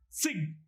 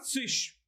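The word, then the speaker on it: zig: We generally add sig or sich. I personally prefer the standard pronunciation is sich, but if you pronounce it as sig, it's okay.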